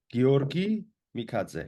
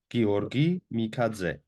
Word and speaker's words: Giorgi Mikadze: Could you pronounce it? Giorgi Mikadze with a hard G. Giorgi Mikadze.